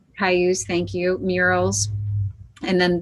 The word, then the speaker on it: Cayuse: So arts and events, Arts Commission, Jansen Beach Carousel, Memorial for, I don't know how to pronounce the name of that tribe. I apologize. Cayuse. Cayuse, thank you.